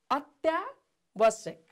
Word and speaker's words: अत्यावश्यक: हेर्नुहोस् त, अत्यावश्यक, अत्यावश्यक, अत्यावश्यक, यसलाई कसरी उच्चारण गर्ने होला। हेर्नुहोस् त, म तपाईँहरूलाई यहाँ लेखेर पनि देखाउँछु है। अत या ब सेक है, अत या ब सेक, अत्यावश्यक है त।